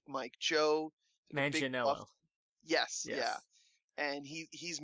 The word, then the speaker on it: Manganiello: And I always forget how to pronounce his name. The guy from Magic Mike, Joe, the big buff. Manganiello.